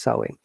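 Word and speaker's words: Samhain: the ancient celtic festival sermon pronounced sowing the chels who lived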